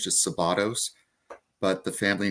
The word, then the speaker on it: Szabados: Is it Szabados?